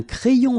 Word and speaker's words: crayon: And then when you get this Y between two vowels, then you will have this cré. So like if you would have I here, A-I, cré, and then another I here, ion.